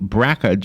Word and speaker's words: BRCA: us about the myths and realities of the bracket een which robin taught me how to pronounce BRCA is what I would have said